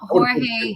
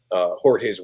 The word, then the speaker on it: Jorge: Although I hear a lot of people call him George Jimenez. So see, Jimenez. Yeah, to me, it's spelled Jorge Jimenez. It's Jimenez. Like, at least that's what my friends would say, or Ed would say. It's Jimenez. Jimenez. Pronounced like that.